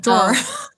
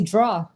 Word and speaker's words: drawer: And it's not a lot of people don't see New York. New Jersey say north. Anyway, in Trenton and then in upstate New York, they say D. you know, with like all the nasal.